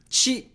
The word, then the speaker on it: ち: Chi. This is the second exception, hiragana. Instead of a T sound, it's a chi sound.